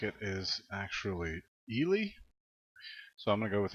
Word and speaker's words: Ely: calling Ellie I looked up to how to pronounce the name nan it looks like it is actually e Li so I'm gonna go with Ellie and you see here one thing that you're